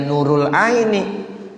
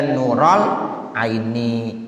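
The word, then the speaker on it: نور العين: Ya Nurul Aini ya jangan ya Nurul Aini ya bacanya Ya nurol Aini Ya Rasulallah jangan baca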